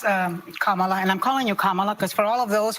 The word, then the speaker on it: Kamala: Let's, Kamala, and I'm calling you Kamala because for all of those who are mispronouncing it, I want you all to know how to say it.